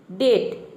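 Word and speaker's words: debt: जल्दी याद हो जाएगा देखिए डेट यहां हम क्या प्रोनाउंस कर रहे हैं डेट यानी कि ब का साउंड नहीं आ रहा ब को हम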